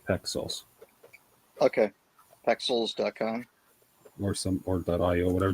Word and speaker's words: Pexels: It's like pixels, but with an E. Pexels Okay.